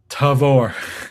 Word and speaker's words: Tavour: Yeah, TA they even have their own website FAQ on how to pronounce it as of tw 2022 early in the morning. They're like it's Tavore.